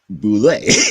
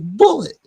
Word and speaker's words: Boulay: Boulay. That's not my name. My name is Bullet. Boulay. It is spelled like if you was pronouncing it in French, it would pronounce Boulay, not bullet.